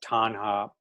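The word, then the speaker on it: taṇhā: In Sanskrit, I'm not positive on the pronunciation. In Pali, it's tanha.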